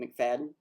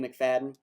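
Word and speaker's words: Macfadyen: But this does involve the TVA, and I will say, because he's in the trailer, I believe he pronounces his last name McFadden, but it's Matthew McFadden, who is known for Succession and is just an absolutely, to me, brilliant actor.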